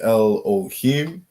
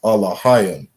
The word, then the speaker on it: Elohim: How they would say it in the Assyrian, or what we call today the Yiddish, is El, right? Khan. They would say El Ohim, right? We understand the correct pronunciation is Alahayim.